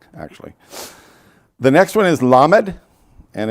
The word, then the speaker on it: lamed: the next one is lamad and it's l as in as in lucky and it's pronounced like llama only you're saying lamed the next one is